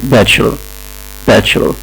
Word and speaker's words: Bachelor: أنا عارف إن الناس كانت بتنطق كلمة Bachelor بنطق مختلف، ولكن هي النطق الصح بتاعها إن CH اللي فيها بتنطق تشا، فهم عشان يعني Bachelor a Bachelor of Commerce a Bachelor of Law.